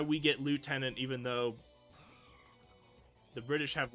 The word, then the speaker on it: lieutenant: Like we say lieutenant, but that's actually it's but the British say left tenant because they learned it from the French and wrote it down,